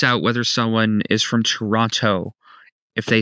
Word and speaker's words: Toronto: If they pronounce the second T, they're they're likely not a local in Toronto.